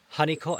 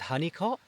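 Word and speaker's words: Holnicote: So, Cellworthy, I believe, is part of the Honeyot Estate. It's spelled like this, but I'm pretty sure that locals pronounce it as Honeycot, so correct me if I'm wrong.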